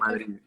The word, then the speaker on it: Telemadrid: Telemadrid, yeah.